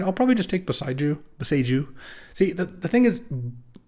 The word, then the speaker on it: Boseiju: All right, I'll probably just take Boseiju. See, the thing is, it's supposed to be pronounced Boseiju, is what I've been told, because it's a Japanese word. Boseiju would be like the